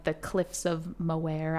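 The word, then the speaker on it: Moher: like the Cliffs of moare I'm probably saying that wrong in Ireland I think it of Moore Moore they don't pronounce the h all right well read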